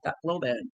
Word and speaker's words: Tacloban: That's how they say it, Tacloban.